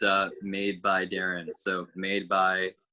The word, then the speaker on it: Darin: it's uh made by darren so made by my name is spelled phonetically d a d-a-r-i-n like